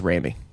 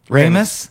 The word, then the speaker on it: Ramis: it's pronounced rainy Oh Ramos yeah and I did think it's pronounced rainy screaming Sam Raimi no there's no I know that I thought they were both pronounced Raimi no spelled and pronounced differently pronounced the same Wow